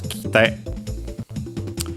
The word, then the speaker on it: kite: make its the form, it becomes kite. Usually accent on the te because the e of ki is barely heard, if at all, being between unvoiced consonants.